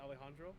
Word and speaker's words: Alejandro: I feel great awesome do I pronounce it Alejandro is that right yeah that's right you can call me